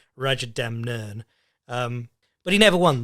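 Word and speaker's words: Rajadamnern: time to get me to say it right Raja Dem nern um but he never won like the big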